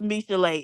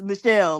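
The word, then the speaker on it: Michele: And it's not pronounced Misha. It's pronounced Michelle like I thought it was.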